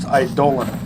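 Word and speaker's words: eidolon: Idolon, the idoltor. I might have mentioned this before, but that word is actually pronounced idolan. But as a name, Idolon sounds more menacing.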